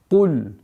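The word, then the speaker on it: قُلْ: Итак, «Куль», «Куль». Нужно обращать внимание, чтобы звук «каф», твердый звук «каф» не перешел мягкий звук «каф».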